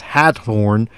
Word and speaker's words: Hathorn: And I'm kind of emphasizing the pronunciation as Hathorn, because keep that name in mind. That is indeed the ancestor of Nathaniel Hawthorne, whom would write in